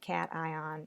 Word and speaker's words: cation: make an ionic compound the words look like a shin in iníon but you pronounce them cation and an eye on so how do you